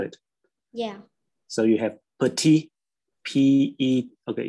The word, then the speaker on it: petit: It's petit. We don't pronounce the t at the end.